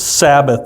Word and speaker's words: Sabbath: The Sabbath, not Sabbath. The Sabbath. You're putting the wrong emphasis on the wrong syllable there. Syllable. It's Sabbath.